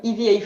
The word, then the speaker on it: EVA: We do the same with EVA foam. It's Eva. Eva foam, yeah.